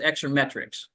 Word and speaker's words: exermetrx: Its pronunciation is exermetrics.